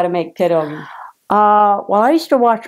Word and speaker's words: pierogi: Pierogis. Mm-hmm. Say it again. Pierogi. Am I saying it right? Yeah, you are. I am. You are. Pierogi.